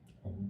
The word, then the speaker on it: Om: I've heard two different phrases or pronunciations of Om, A-U-M, like Om, or O-M.